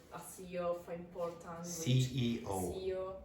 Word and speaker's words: CEO: CEO. No, don't say CEO. CEO. You have to pronounce all the letters.